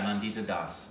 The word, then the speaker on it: Nandita Das: And this was directed by Nada, would you pronounce that name? It's a female. Nandita Das. Oh yeah, Nandita Das.